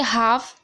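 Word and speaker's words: half: दूसरे में देखिए हाफ, एफ से पहले एल है तो एल साइलेंट है।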